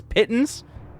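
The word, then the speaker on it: pitons: And the pittons, I found out how to pronounce it. It's pittons.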